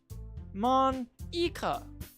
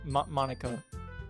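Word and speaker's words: Monika: Mon-ika. Huh? That's not how you say my name at all. Is it not? Oh shit. Is it Mon-ika? Monica.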